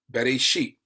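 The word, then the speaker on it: בראשית: Bereshit, Beit, Resh, Aleph, Shin, Yod, Tau, right? Bereshit. Bereshit. That's how you say it in Hebrew.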